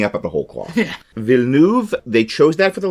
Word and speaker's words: Villeneuve: According to, Google, when you put it in and then you click the little speaker that says, how do you pronounce this? It's Villeneuve. Because that is the name they used in the live-action remake.